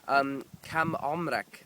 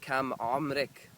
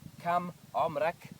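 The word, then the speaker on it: عمرك: Okay, and it's spelt the same for a girl and a boy. It's just you change the voweling. So kam omrak, kam omrik.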